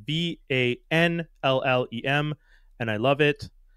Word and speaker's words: Vanllem: I talked to an artist this week, Vanllem, about AI, its use in art, and why it might just never work in the artist industry.